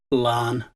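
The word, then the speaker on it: Laugharne: You see, the town's real name is Tal Lacharn, and the administrators changed Lacharn into English spelling, and the GH became silent, so Lacharn became Larne.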